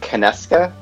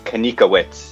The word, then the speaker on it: Konieczka: but that's the way we pronounce it here, at least.